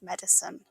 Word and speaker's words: medicine: Dolittle is famous for his medicine. The word has 3 syllables, med-i-cine. Many learners want to say medicine, but listen carefully, ends with a soft sin, medicine.